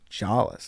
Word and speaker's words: Jolles: And I was like, "Jolles."